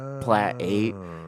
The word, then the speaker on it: Plat8: thought it'd be ironic they called it plat 8 as the eighth plaid of Ottawa Hills okay but it looks like it's spelled plate yeah and everyone gets confused about it I'm gonna talk to